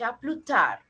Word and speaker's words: tard: Okay, D is silent. À plus tard.